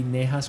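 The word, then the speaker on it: Najas: that's really confusing yeah I know it as nice grass I think the technical pronunciation should be neha's grass but it depends on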